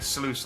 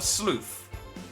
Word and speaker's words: sluice: I'm saying sluice like... Yeah, a sluice, not a sleuth. There's a slight difference in my pronunciation.